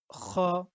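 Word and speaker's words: خ: মুখ থেকে বলি, কিন্তু যখন আমরা আরবিতে খ বলবো তখন তার উচ্চারণটা হবে গলার ভিতর থেকে।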